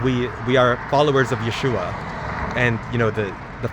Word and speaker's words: Yeshua: a Jew and you if Yeshua is is you know the true pronunciation of Jesus I'm a true follower of Jesus Christ and his his name as it was pronounced you know originally it was Yeshua and I do this